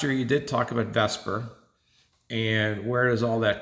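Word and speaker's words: VSEPR: spelled right there but a lot of people call this vesper and this is going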